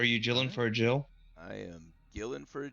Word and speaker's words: gill: when you're talking measurement, it is pronounced Jill. Huh. It's been bugging You would me think for that- episodes, and it's just, yeah, I was like, Gil, that don't sound right.